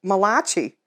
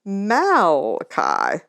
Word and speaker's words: Malachi: one right here and they'll think it was some italian guy who wrote it malachi and be laughed out by the other kids but if you spell it right out and say no it's malachi that's different isn't it